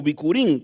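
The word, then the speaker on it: בכורים: voy a mencionar que el hebreo traduce la palabra primicias de de primicias se pronuncia o se escribe como bicurín Qué significa primeros frutos de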